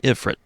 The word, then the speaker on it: Ifrit: That's interesting because, like, the moment I got Ifrit, I was thinking of, like, and now I pronounce it Ifrit because that's the way they say it in Final Fantasy games now, even though I don't even play them anymore.